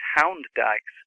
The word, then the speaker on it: Hund Dykes: old map and saw Hund Dykes at Forden, I realised what they were referring to, and it's Hound Dykes. It's spelt the same.